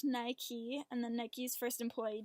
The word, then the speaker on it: Nike: actually comes from a Greek goddess of victory pronounced Nike and the Nikes first employee Jeff Johnson came